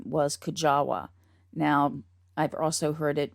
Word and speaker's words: Kujawa: the last name was kajawa now i've also heard it with the w pronounced kind of as a v like hujaba um but i'm going